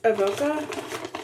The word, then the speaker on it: Avoca: I got it at Avoca.